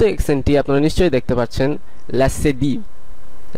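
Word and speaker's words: leçon: চতুর্থ এক্সেটি আপনারা নিশ্চয়ই দেখতে পাচ্ছেন লাসেদি লা সেদি অথবা সেদিলা যখন সি অথবা ফ্রেঞ্চের সে প্রয়োগ করা হয় তখন এটির উচ্চারণ এস এর মতন হয়ে যায় যেমন এই উদাহরণটি আমরা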